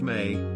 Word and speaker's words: me: his Temple at eridu obtaining the me pronounced May that underlies human civilization